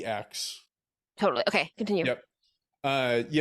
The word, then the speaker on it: Alex: I'm sorry, does he pronounce it Alec? No, He doesn't? Okay, I thought it's that I heard it somewhere. Alex.